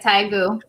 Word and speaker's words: Daegu: It's pronounced kind of like Daegu, is how I like listened to two different videos. So that's how they said it. It's like Daegu.